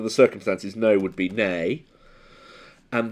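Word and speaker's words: Ney: would be nay and there was a Napoleonic Marshall who was Marshall nay NE Y and so is heard tells you it's the way it sounds rather than the way it's spelled that matters so it's it's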